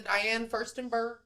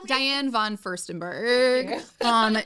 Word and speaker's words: Diane von Furstenberg: All of my friends, we will be the Diane Furstenberg. That is Can you that say it right? Is Diane von Furstenberg.